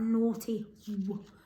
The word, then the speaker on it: naughty: what also we've got that naughty where the h is silent what brilliant right let's